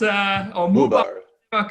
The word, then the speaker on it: Muehlbauer: Did I say it correctly? Muehlbauer? It's okay. It's okay. Yes, I've been named in different ways, but Muehlbauer comes, Muehlbauer comes very close to it.